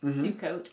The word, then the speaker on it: Sukkot: Sukkot.